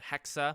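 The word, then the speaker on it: Hexe: The Japan game and the, well, it's a Hexa.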